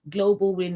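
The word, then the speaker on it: Global WIIN: like to say that global win is spelled with uh the win is with a double i um so global w i i n we are on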